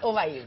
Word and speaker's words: Obaid: el estudio de Canal 24 Horas, doña Obaid. ¿Obaid o Obaid? Obaid. Obaid, sí. con el acento. Así. No tiene acento, pero se pronuncia Obaid.